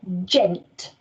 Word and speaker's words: gent: the word gent and remember today that j is being made by that soft letter g so gent there are four phonemes